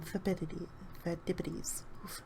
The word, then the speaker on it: Phidippides: There you go, that's how you say his name, Phidippides.